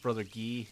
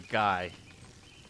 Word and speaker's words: Guy: Oh, his name is pronounced father Gee. No, it's brother Guy.